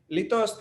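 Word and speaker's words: litost: Lithos is an untranslatable Czech word. Its first syllable, which is long and stressed, sounds like the wail of an abandoned dog.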